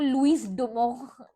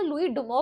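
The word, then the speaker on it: Louis Dumont: सीओ टी लुई इसको लुईस डुमो मतलब pronunciation में आ रही है। आपको जैसे प्रोनाउंस करना है करिए। इसको लुई डुमो पढ़ते हैं।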